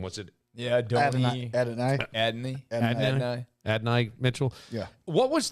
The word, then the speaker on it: Adonai: Mitchell, and I don't know how to pronounce his first name. What's it? Yeah, Adonai.